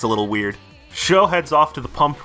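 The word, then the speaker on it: Chaud: his name is spelled guess how you say it nope it's sho it's the french word for hot which is how the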